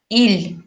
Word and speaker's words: ил: Сигес, сигес, мин, я, син, ты, иль, страна, иль мягко произносится, но мягкий знак не пишем.